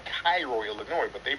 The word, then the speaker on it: Cairo: accent um there's a place in Illinois called Cairo Illinois but they pronounce it cro so that's did you see okay oh okay